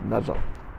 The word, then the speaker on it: mezzo: put these qualifiers on and the word is pronounced mezzo and if it met so piano precedes the